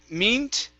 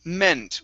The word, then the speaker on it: meant: okay this word here instead of meet the word is meant with a short e sound okay very nice uh